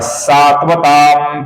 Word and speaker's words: सात्वतां: अनुस्वार का अपूर्ण म ऐसा ही उच्चारण हम करते हैं क्योंकि इसके आगे पति का प आया हुआ है। तो प, फ, ब, भ, म, तो अनुस्वार की जगह पर हम म का ही उच्चारण यहां पर करेंगे जैसा हम आमतौर पर करते हैं।